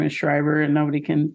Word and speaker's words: Schreiber: s because my last name is shriber and nobody can pronounce it or spell it so it